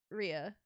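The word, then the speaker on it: Rhea: that I mean you would pay to meet Ria Rea Ria r you say it right the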